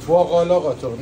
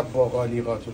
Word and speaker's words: باقالا قاتق: آره باقالا قاتوق بله باقالا قاتق نه با قالی قاتق بچه‌ها تلفظ درست خب زیتون پردمون آماده